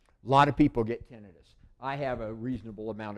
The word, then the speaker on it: tinnitus: Tinnitus, and it's not pronounced tinnitus. It doesn't mean inflammation. That's itis.